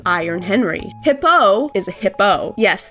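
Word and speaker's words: Hippeux: Hippo is a hippo. Yes, the X is silent in his name.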